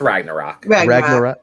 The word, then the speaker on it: Ragnarok: It's like Thor. It's Ragnarok. Ragnarok.